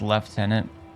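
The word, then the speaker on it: lieutenant: proper one at that that word being pronounced left tenant I I've heard like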